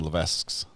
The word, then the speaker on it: Levesque: It was Jason Levesque's. Levesque. The S is silent.